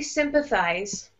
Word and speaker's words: sympathize: And when you're saying sympathize, here we keep the first syllable a little bit stronger. Okay. The first syllable is a little bit strong, but also the second, the third syllable is also a little bit strong too.